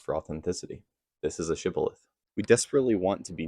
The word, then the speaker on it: shibboleth: to pronounce the word shibboleth. Now, this is because the people that they were trying to, attack could not pronounce the sh sound. So they would say it sibboleth.